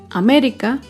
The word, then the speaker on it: América: Otro claro ejemplo es la palabra América. América se acentúa en la antepenúltima sílaba.